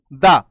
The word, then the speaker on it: the: इसको हम बोलते हैं THE द। कुछ लोग इसका उच्चारण वाउल की वजह से दी भी करते हैं, तो दा या दी कैसे भी उच्चारण हम कर सकते हैं।